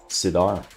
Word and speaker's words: Sidar: Sidar is how you pronounce it.